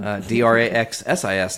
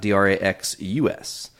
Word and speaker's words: Draxsis: Draxsis, not Draxus.